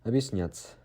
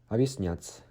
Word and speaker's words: объяснять: So the stress sound is on ya, and объяснять means explain in Russian. Explain, okay? The твердый знак here, it doesn't pronounce like anything. So it is just there as a barrier between be and ya.